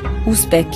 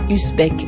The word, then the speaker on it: Ouzbek: C'est pour ça que je prononce ton nom comme il faut, Ouzbek, et non pas Uzbek à la française.